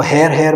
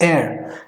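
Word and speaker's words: heir: That's pronunciation, the H is silent, तो इसको हेयर मत कर दीजिएगा, इट्स एयर एज फार एज I know.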